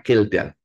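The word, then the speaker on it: Kjeldahl: nitrogen food is the kildal itu sampai di dalam kurung kildal ka saya nanti anda bacanya kejeldal Ya itu bacanya kildal lah Salah satu industri yang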